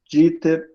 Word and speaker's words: Dieter: meu nome é Dieter, assim, com K e um S só no final. O Dieter se escreve com IE, mas se pronuncia I.